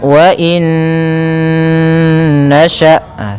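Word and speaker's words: وَإِن نَّشَأْ: Cara membacanya, masukkan nun yang pertama kepada nun kedua, kemudian ditahan gunnahnya, karena idgham itu memasukkan, bi gunnah disertai dengan gunnah. Maka wa in nasha', seperti itu.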